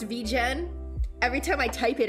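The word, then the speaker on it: VGen: the the community has decided that it is pronounced vegen every time I type it out I do read it as vegan so I I'm in the camp of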